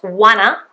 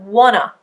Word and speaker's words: wanna: It is not wanna, but wanna, wanna. Okay, you can see the schwa being used quite clearly there at the end.